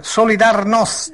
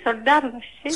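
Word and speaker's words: Solidarność: com'è Come si dice non ho capito Eh solidarnost sì solidarnost ah solidarnost così Sì Ecco E ora passo a chiederle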